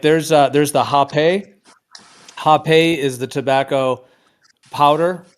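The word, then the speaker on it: rapé: it looks, yeah, well, it's pronounced Hape, is how it's pronounced. I mean, some people say Rape, but yeah, it's So it's like snuff.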